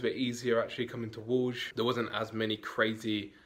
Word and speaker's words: Wrocław: Well, right now, we're in Wrocław, which is how you say that word, that,